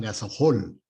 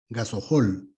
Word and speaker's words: gasohol: hace poco veía que le llamaban gasol gasohol pero no se pronuncia así gasol no es gasol este gasol es una